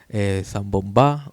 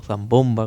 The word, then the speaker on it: Zambombá: un festejo en Navidades que se llama Zambombá o Zambomba, como nosotros le decimos, le cambiamos la sílaba tónica, y dice, por los